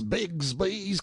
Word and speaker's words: Bixby: "Are you Horace Bigsby's cub?" Bixby being usually pronounced Bigsby in river parlance.